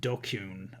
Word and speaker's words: DQN: Pronounced Dokyun, a thug, bully, or someone who's part of the dregs of society.